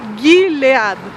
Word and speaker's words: Gilead: se dire l' demandé c'est Guilad Guilad voilà c'est comme ça que ça se prononce donc là moi puis